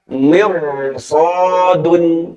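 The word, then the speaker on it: مرصاد: Maka ro sukun ini dibaca tebal. Contohnya apa? Contohnya ada pada kata mirsodun. Nah, dalam Al-Quran ada kata mirsod. Ro sukun padahal sebelumnya kasroh. Tapi karena bertemu huruf isti'la, maka dibacanya tebal huruf ro sukunnya. Mirso, tidak mirso, tapi mir. Ro-nya tebal. Mirsodun.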